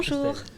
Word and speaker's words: Christelle: Christelle. Je l'ai bien dit, j'ai bien prononcé.